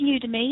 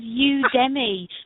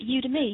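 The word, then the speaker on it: Udemy: um oh UD to me yeah it is pronounced UD to me yeah I thought it was UD Demi but it I was like what does that mean but UD to me yeah you to me um yeah it's a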